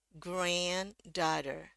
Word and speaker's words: granddaughter: granddaughter ya kedengaran ya naik turun ya versi Britishnya antara a dengan dia tetap aja ya jadi ge grand ya beda banget ya pengucapannya ge ah and grand terus di sini dia pakai o ya o dan agak sedikit panjang do ingat karena di sini